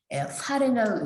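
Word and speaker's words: erfahren: 에어가 붙으면은 기본적으로 강세를 파렌 주셔야 됩니다. 에어 파렌이라고 읽으셔야 되고 에어 파렌의 과거분사는요.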